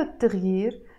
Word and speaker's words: التغيير: you notice in Arabic we write it التغيير but we don't pronounce it التغيير we pronounce it التغيير why because this T letter is a sun letter and every time you have a sun letter and you add L to a word you have to drop the sound